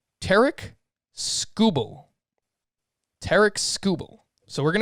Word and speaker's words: Tarik Skubal: And I actually was watching the Detroit broadcast, and they pronounce his name Tarik Skubal.